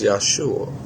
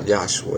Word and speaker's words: Yeshua: I pronounced that wrong, didn't I? is Yesua, not Yosua.